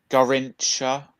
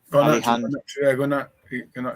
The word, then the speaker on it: Garnacho: And then Garrincha, is that how you say it? Garnacho.